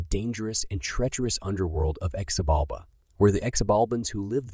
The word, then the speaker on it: Xibalba: According to their cosmology, below the earth was a dark realm called Xibalba, pronounced as Xibalba, Ba, which means place of fear.